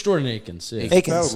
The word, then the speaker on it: Akins: Is it Akins or Atkins? I think it's. I mean, It's Jordan Akins. Yeah. Akins. Like you're a UCF guy, Julian. Is it Akins or Atkins? Akins. Yeah, you said it wrong the first time that